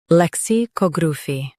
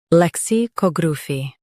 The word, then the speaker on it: lexicography: lec si cog ra phy lexicography lec si cog ra phy lexicography US stresses ca UK stresses cog lexicography lexicography Practice repeatedly and you'll soon be able to say this word perfectly.